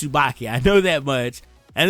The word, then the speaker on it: Tsubaki: a black star he has a Tsubaki not casue so I get a little confused on how to say her name but I do know it's Tsubaki I throw that much